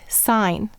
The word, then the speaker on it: sign: And I used to think, who thought to throw a silent G in the word sign? See, English is crazy. But what happens in signature? Yeah, do you hear it? You hear the G, and in signal, and in design.